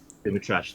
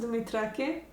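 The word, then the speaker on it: Dumitrache: Dumitrash, the IM. Yeah, I was surprised to see. I've actually never seen that name. I've only seen it from. So it's pronounced Dumitrake.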